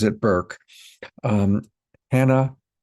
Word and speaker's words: Bourke: I've been calling it Burke for a dozen times and I have to keep remembering that she pronounces it Burke. Um Anna Burke, burke ke.